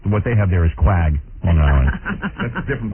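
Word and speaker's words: Quogue: You spell it Q-U-A-G? That's misspelling. Spelling. Yeah, these guys screw me up every day. It's Q-U-O-G-U-E, isn't it? Yeah, that would be Quag. Right. But what they have there is Quag, Long Island.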